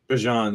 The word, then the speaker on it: Bijan: Bijan, yeah, that's how it's properly. Yeah, I should have put that in the news. It's pronounced Bijan, everybody. Yeah, according to him himself. It's like Dijon, but with a B.